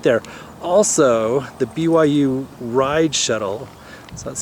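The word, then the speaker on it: Ryde: Also, the BYU ride shuttle, so that's spelled R Yde D.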